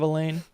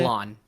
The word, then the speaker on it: Alain: It's a screenshot of Elaine or of Allen. Elaine. How do you say Alain Alain?